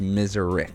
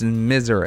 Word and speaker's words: Miserix: No, it's uh pronounced Miserix. Miserix. No way. You didn't correct me all of the first episode. Too late now. Well, okay, I'm correcting you now. It's Miserex.